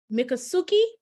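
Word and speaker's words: Miccosukee: help me pronounce that is it mikasuki Florida that's very good yeah mikasuki Florida Muki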